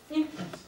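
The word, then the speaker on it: ἰχθύς: Porque el pez en griego se escribe esto se lee ictus, ¿sí?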